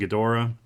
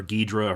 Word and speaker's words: Ghidorah: And again, I don't know much about the movie either, except that the movie features King Ghidorah, or Ghidra, however you prefer to pronounce it.